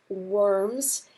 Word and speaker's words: Worms: you'll see the word worms here. That is not the word worms, so please don't pronounce it worms. In German, your W's are pronounced like V's in English, and so it's called Worms.